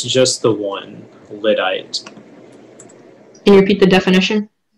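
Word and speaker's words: lyddite: the word one more time the word is lidite can you repeat the language of origin uh it's from an english geographical name plus another english part lidite l y d d i e e lidite that is correct uh and next up our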